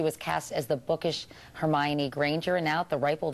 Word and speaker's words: Hermione: I know I've had so many different interpretations like oh um herion uh hermy Juan but now I guess now I guess because of the movie everyone knows how to say her name and Hermione like Emma